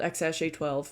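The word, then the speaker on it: X Æ A-12: Elon musk's EX girlfriend and mother whose child X sj12 and yes that's how you say it I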